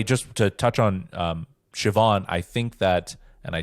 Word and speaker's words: Siobhan: you have it because it is spelled with a B but the BH I think is a yes V but yes either